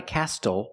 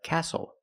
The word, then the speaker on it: castle: The T is silent with the spelling pattern S-T-L-E. Example, this is a castle. Not a castle, but a castle.